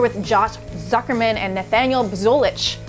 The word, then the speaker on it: Buzolic: get it right cuz I know people butcher your name b bich or bolich bich can I just say bolich you can say bolich it's it's all I've